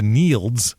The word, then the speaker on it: Nields: Next up, the Nields, which is spelled like fields except with an N. It's Neil with a D. Yeah, Neil with a DS.